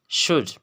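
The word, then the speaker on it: should: शुड, शुड, शुड means चाहिए, शुड। Rule यही है, अगर डी से पहले एल आएगा तो वो एल क्या होगा, साइलेंट होगा, शुड, शुड।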